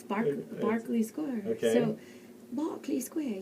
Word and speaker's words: Berkeley: And actually spelled Berkeley, but pronounced Barkley. Excellent, which baffles me, but... so that's how I should say it when I announce it? And, yeah, it's Berkeley Square.